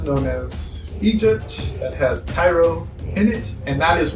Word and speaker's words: Cairo: it on the page Cairo is expelled cair oh it's spelled k ay y ro and the bird says